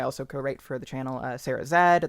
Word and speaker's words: Sarah Z: co-write for the channel Sarah Zed. That's just the letter Z, but it's Canadian, so you say it like Zed.